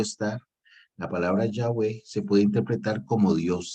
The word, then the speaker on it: Yahweh: De hecho, la palabra Yahvé, ¿verdad? Yahweh sería la pronunciación más o menos adecuada, ¿verdad? Acordémonos que es una palabra que no tiene vocales, ¿verdad?